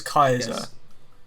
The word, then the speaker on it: Caesar: you want mate yeah his name is julius kaiser uh which is like the the original latin pronunciation of julius caesar yes uh so he